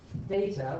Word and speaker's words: theta: By the way, pronunciation this is theta with a tth theta. It is not theta which is kind of cheese.